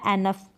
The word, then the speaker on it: enough: फिर यहाँ पर है इनफ या एनफ, ENOUGH, इनफ या एनफ।